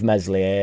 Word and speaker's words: Meslier: just get rid of mesli a silent s is mental to me